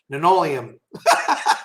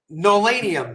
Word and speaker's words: Nolanium: Linoleum. Linoleum. Linoleum, maybe? No, Nolanium. That's it. That's how you say it.